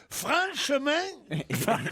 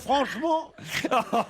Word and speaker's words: franchement: ne prononce pas le T de la fin comme vous le faites.